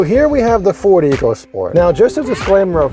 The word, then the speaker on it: EcoSport: So about this car, it's the Ford EcoSport, and all along I've heard people pronounce it just like that. But now that I'm looking into it, it's supposed to be pronounced EcoSport.